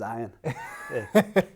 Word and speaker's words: Ian: i'm the cool guy what's up ian he goes hey my name's ayan all right but it's spelt this way so then from there